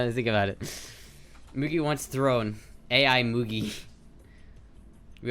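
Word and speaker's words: Mugi: Honestly, it's pronounced Moogie, but I say it Moogie.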